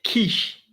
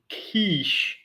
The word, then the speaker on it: quiche: like K Kish but in French we have the E of the Kish more short we don't say we say inish inish kishish Kish as in English it's Kish but in French it's Kish so the the it's more short but then there is